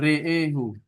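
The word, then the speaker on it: رآه: Ro'ahu menjadi re'ehu. Re'ehu. Kalau dia dibaca kosal ya, re'ehu. Kita fokus di hamzah dan alifnya dibaca seluruhnya dengan imalah.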